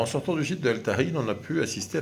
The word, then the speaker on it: El Tajín: Et donc El Tahin, ou le Tagine en prononciation française, du côté de Papantla, dans l'état de Veracruz, c'est une balade à faire.